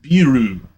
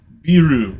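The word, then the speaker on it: ビール: Japan or in Japanese it's beeru so beeru which sounds a lot like beer so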